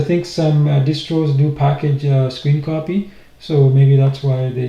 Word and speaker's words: scrcpy: So you can see that's the version I have version 3.3 and it's pronounced screen copy. So I was wrong when I was going square copy. It's pronounced screen copy.